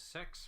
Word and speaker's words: CeX: The brand is spelt out CEX, but you're supposed to pronounce it as sex for some fucking reason.